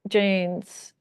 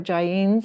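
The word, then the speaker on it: Jain: the Buddha there were Janss prior to the Buddha The Janes were uh or Jin if we're pronouncing it correctly I believe that's a little bit better pronunciation um they were yes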